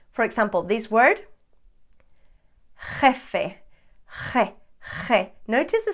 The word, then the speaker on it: jefe: pronounce it second one letter j is also a dance i always say that this is like an angry cat sound sounds like that's me exaggerating big time it's not